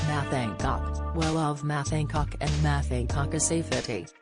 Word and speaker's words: Hancock: Carol joked, apparently, to say his name properly the Han is silent. Who knew? She also captioned her tweet, practicing saying Matt Hancock correctly. Apparently the Han in Hancock is silent.